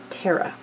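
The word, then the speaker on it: ਤੇਰਾਂ: The number 13 in Gurmukhi, meanwhile, is pronounced Terra.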